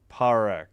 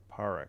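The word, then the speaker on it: Parekh: P A R E K Z parak. Okay. Emphasis on the parak. It's not par. Parek. Got it.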